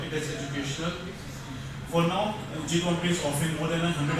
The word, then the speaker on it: GCompris: And so basically SS silent, so we have pronounced it gCompre, and it's educational software